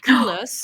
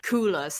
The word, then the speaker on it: Coolors: colors, which is called Coolers. Yes, I love Coolers. It's called what, sorry? Coolers. It's spelled Coolors.